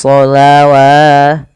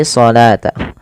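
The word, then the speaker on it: الصلاة: maka jangan kita baca wa aqimus sholawat, wa aqimus sholawata. Salah, karena dia bukan dibaca dengan sholawat tapi sholata.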